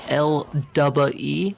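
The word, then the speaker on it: LDUBBAE: And then also one of the characters' names is L-double-E.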